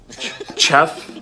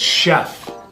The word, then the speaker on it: chef: ask questions so so what sound does this make the CH sound which means this word is which means this word is Chef no it's Chef you don't see how it's because it's French that's why okay but when it's